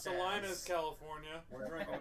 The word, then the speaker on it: Salinas: So what everybody thinks That's Salinas actually pronounced Salinas, as.